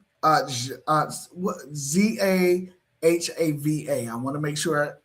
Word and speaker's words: Zahava: And so then you say, "My name uh uh Z A Ha Va. I want to make sure I pronounce it right." What What is that character's name? Sahava.